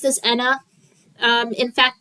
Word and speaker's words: Ena: But yeah, it can be pronounced as Anna. Um, in fact, the original intended pronunciation was Anna and then the ENA pronunciation came from the English-speaking audiences, but you know, it's